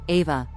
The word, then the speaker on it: Eve: So the being you call Eve, pronounced Ava, according to her, was actually a group